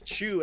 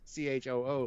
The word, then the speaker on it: Chu: which implies it's another Chew. Yeah, another Chew. So it implies a new performance. And it's Chew as in Eric Chew. Oh, our buddy Eric Chew, not Chew as in CHOO, like choo choo, like right.